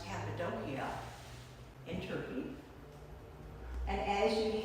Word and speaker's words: Cappadocia: dot that's right under the word turkey that's cappadocia as it's pronounced here it's pronounced cappadocia in turkey and as you head west there's